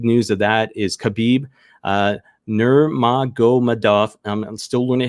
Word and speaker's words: Nurmagomedov: obviously the big news of that is khabib nurmagomedov i'm still learning how to pronounce that name but i will get better uh uh nurmagomedov a little bit better anyways announce his retirement